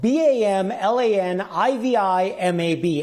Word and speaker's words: bamlanivimab: It's spelled BAMLANIVIMAB, and that's pronounced Bamlanivimab.